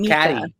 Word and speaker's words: Micah: With Katie, Katie, and Mika. Caddy. And the whole time I wanted to be like, but it's spelled Micah. It is spelled Micah. But I guess Mika is the theme.